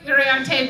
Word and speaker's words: Uriarte: We can't pronounce her middle name as hard as we try. Sarah Uriarte Berry.